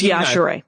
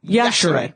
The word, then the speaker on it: Yashere: It's Yashere. Yashere. Yeah. Pronounce the E, people.